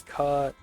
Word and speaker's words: Cut: The correct pronunciation is Cut, exactly like how it's shouted on the film set.